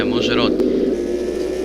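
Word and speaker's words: Mogyoród: Mozharod, right? Yeah, Mozharod.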